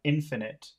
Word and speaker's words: infinite: which is the opposite so they're pronounced differently you have infinite and then you have finite finite means there is